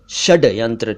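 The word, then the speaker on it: षड्यंत्र: यहां यह बताना चाहूंगा कि कुछ लोग षडयंत्र शब्द को षडयंत्र लिखते और बोलते हैं जो कि ठीक नहीं है। षडयंत्र गलत है। षडय षडयंत्र ठीक है।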